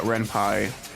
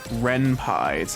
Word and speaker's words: Ren'Py: And there actually is a thing you can do in Ren'Py, the engine I'm using, where you can like click on images and stuff.